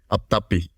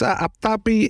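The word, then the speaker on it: apthapi: Not sure exactly how it's pronounced too, but I think it's aptapi.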